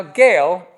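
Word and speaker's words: Gaal: mean if it's bail it's got to be Gail right not Gall I always want to say go and go but Gail is everybody with me I didn't look it up okay Gail verse 26 now Gail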